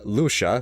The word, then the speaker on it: Lucia: And Lucia, which is how you pronounce her name, takes them to the biological research facility.